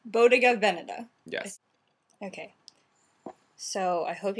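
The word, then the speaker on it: Bottega Veneta: we could figure out it's supposed to be V so emphasis on the first word Boda Vena yes okay so I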